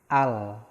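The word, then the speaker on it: 알: Contoh, nah di sini ada contoh A dan real akhir, berarti dibacanya al.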